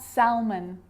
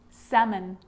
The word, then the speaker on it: salmon: Could, could, should, should, talk, walk, yoke, half, calf, salmon, not salmon, salmon.